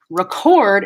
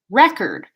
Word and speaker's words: record: terms of syllable stress for example record so record is the verb stress on second syllable record versus record stress on first syllable that's the noun record so those are really